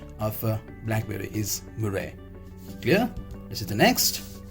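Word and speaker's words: mûre: In French we say murre, M-U-R-A. You can see here M-U-R-A, which is murre. Clear? The pronunciation in French.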